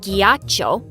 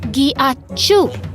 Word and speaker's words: ghiaccio: No, it's not ghiaccio. It's pronounced ghiacciu.